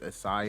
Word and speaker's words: ASYCI: do my name is assai a lot of people don't know or know how to pronounce my name but um it's pronounced acai it actually stands for